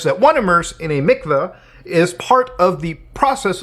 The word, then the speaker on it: mikvah: So a mikvah, whatever the pronunciation is, I'm not Jewish, obviously, it actually says pronounced mikvah, so I was right in the first one.